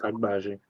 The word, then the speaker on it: Agbaji: Agbaji, yeah, he's Agbaji.